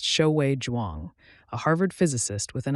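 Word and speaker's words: Xiaowei Zhuang: In 2006, that someone was Shiae Jwang, pronounced Shoui Jwang, a Harvard physicist with an eye not just for the invisible, but for the impossibly small.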